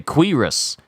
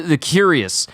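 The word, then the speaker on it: Kvasir: you say quiris quiris that's how you say it all these years of seeing this word and I never could pronounce it correctly and I was always calling it The curious but it's not it's the quiris or Creos yo see there's just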